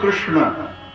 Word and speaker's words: कृष्ण: पूरा जीवन उसने कृष्ण को अर्पण कर दिया।